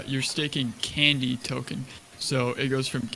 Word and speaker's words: Kandy: have your token staked, the price can go down, but you're still getting that you're still getting that extra Kandy reward basically to your balance, and it's compounding.